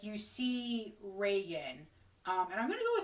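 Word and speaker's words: Regan: other characters call her vegan which is like how her name looks like it should be pronounced based on the way it's spelled but i'm gonna call her reagan because that's what her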